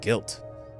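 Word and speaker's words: Gylt: one of his, like, he had a name tag that said Guilt. So, and it's spelled G-Y-L-T.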